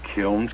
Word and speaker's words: kiln: happy working at your kilns that kills kills without pronouncing the end what do they call a kiln the kill when it's just a